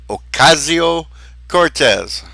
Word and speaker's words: Ocasio-Cortez: Yes, Bird, that's how you pronounce it. Alexandria Ocasio-Cortez.